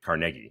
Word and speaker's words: Carnegie: I like going to Carnegie and that's actually how the locals pronounced it they used the Scottish pronunciation of Carnegie in the Pittsburgh suburb